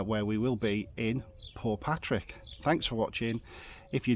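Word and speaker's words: Portpatrick: in we've been told poor Patrick don't pronounce the T so don't tell us off if we occasionally say Port Patrick um yeah when we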